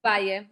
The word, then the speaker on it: Valle: Is it Valle? Am I saying it right? Valle. Yep, Valle.